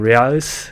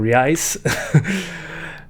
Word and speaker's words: reais: Sorry if I messed that up, for the 2 Brazilian reais, I think it's pronounced. They're Brazilian reais.